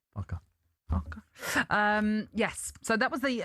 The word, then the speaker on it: Farke: Farke. Farke.